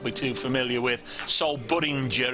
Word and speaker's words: Budinger: Sol Budinger, it's pronounced as in ginger rather than bell ringer.